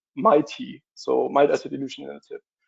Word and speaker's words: MAETi: And uh it was almost correct Nikolai uh we pronounce it mighty.